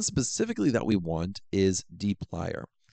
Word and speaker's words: dplyr: And one specifically that we want is dplyr. And that's how I pronounce it, at least. But it's dplyr.